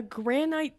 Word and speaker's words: granite: Wait, it's not granite. It's granite. Granite. Granite. It's not that big a place. Why do they have 3 names? She put the emphasis on the wrong syllable.